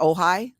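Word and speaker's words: Ojai: in uh do you do you pronounce that ohigh I think it's pronounced ohigh California yeah Farah she was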